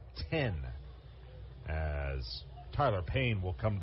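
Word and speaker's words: Then: last name is spelled t hen but it's pronounced 10 as Tyler Payne will come to the play Payne Rada and Paris in the eighth inning for Rocket City so righty on righty as 10 will face Payne who's two of three two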